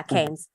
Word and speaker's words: Keynes: one economic philosophy side of marx and kane keynes am i pronouncing it right yeah keynes thank you read also the chicago school and